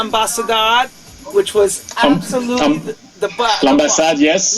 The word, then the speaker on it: L'Ambassade: which was absolutely the L'Ambassade, yes. L'Ambassade, I always say it wrong. L'Ambassade, and he was Ambassade, yes, Ambassade. It's in Lyon. The French, yes, French word for embassy.